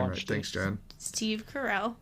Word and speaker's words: Carell: Steve Carell. Carell. Say it with me. Carell. Carol. Say it like I'm saying it.